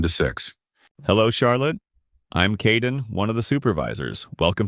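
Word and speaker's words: Kaeden: Hello Charlotte, I'm Kaden, one of the supervisors. Welcome to the team. Hi Aiden. It's Kaden.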